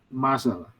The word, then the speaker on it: muscle: Nah, bacanya adalah muscle. Oh, muscle. Ya, Muscle. ya. Muscle. Jadi Malah C-nya hilang ya. ya, karena S-nya dibaca S, kemudian C-nya juga dibaca S, jadi muscle.